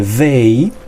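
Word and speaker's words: they: tenemos el pronombre day fíjense bien como suena decir day como una de normal porque ustedes estarán diciendo día sería o sea pueden poner la punta de su lengua entre sus dientes y vayan a pronunciar Así que quiere decir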